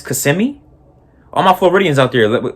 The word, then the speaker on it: Kissimmee: Before I get back to the video, it's pronounced Kissimmee. It's not Kissimmee. It's Kissimmee. All my Floridians out there, it's Kissimmee, not Kissimmee.